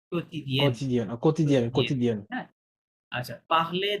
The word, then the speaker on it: quotidienne: না না, এটা কোয়াতি হবে না, Co- এটা ইউটা তো co- সাইলেন্ট আছে, কিউ ও কেবে কো, কেবে কোতিদিয়েন।